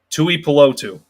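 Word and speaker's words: Tuipulotu: run defense perspective marlin tui palo tu is uh well his last name again tui pelotu is the correct pronunciation so bringing up marlon's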